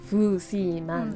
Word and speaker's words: 符士汶: Cantonese is 富士汶. Fujiman. Maybe simply in like a Japanese pronunciation, Fuji. Same as Fuji is Fuji. Fujiman.